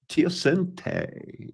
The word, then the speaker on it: teosinte: Teosinte is how that's pronounced.